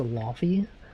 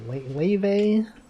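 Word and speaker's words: Laufey: Someone was like, actually, the God of War one is pronounced Laffy, but then the musical artist is like Lave or something. Yeah, Lave. I always thought it was Laffy.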